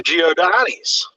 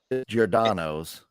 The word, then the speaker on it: Giordano's: And you got your Giordani's. I did get Giordani. Yeah, man. Now you even got me saying it wrong. Giordani's? Yeah, you got me because Giordano's.